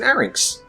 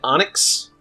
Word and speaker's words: Arynx: It's an Arynx. It's like a lynx. Yeah. But it's an Arynx. Yeah. But I've heard it called a trained Onyx quite a lot. And a trained Anx a lot.